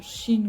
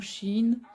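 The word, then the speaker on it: Shein: va être du du CH en fait donc je sais que normalement ça se prononce Chine ou Chine bon ici on est habitué à dire ch on se prend pas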